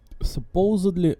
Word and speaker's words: supposed: are supposedly supposed to supposedly supposed to supposed there's d at the end but it is silent supposed s u s PP s you you do not say it out loud but there